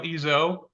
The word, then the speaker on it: Ezzo: in season 2 of New Histories, and we're with Danielle Ezzo. Hope I pronounced your last name correctly.